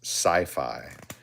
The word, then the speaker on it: CI5: It's called the Rhino boot mold, and it was introduced as the Dirk, the Swindler, and what we called the CI5 was actually intended to be pronounced sci-fi.